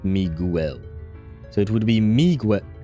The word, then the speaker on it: Miguel: with the E, not Miguel. So, it would be Miguel Miguel Miguel me not sure I understood the assignment. So wait, me and then girl. Miguel. Yes. Yes. Miguel. Ignore the U.